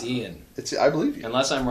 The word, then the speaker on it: Ian: Is that how you believe pronounce it is that? Ian.